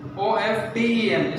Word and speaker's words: often: Silent T, they often. O-F-T-E-N. Spelling is O-F-T-E-N, but we can call it often.